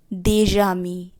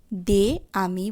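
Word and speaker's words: des amis: অর্থাৎ যদি আমি বলি বন্ধুরা সেক্ষেত্রে আমরা বলবো দেজামি, দে আমি বলবো না দেজামি।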